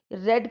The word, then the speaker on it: read: अब देखो बच्चों, रेड की स्पेलिंग READ और रीड की स्पेलिंग भी READ। इनकी स्पेलिंग फर्स्ट वर्ब की फर्स्ट फॉर्म में भी, सेकंड में भी, थर्ड में भी सेम होती है, पर प्रोनाउंस ऐसे करते हैं, रीड, रेड, रेड।